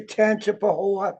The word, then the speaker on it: Tangipahoa: And you were born in January 28th, 1944, birthplace Independence, Louisiana, hometown Hammond, out of how do you pronounce that one, Parish? I would say Tangipahoa Parish.